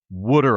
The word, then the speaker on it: water: Well, first of all, Gary, it's not Rita's water ice, okay? You got to say it right. It's wooder ice. Wooder. Rita's wooder ice.